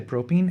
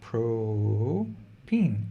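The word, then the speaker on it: propene: molecule exactly it's propane how do you say propine it's an alkene with three carbons no biggie this is pro-peen it looks very different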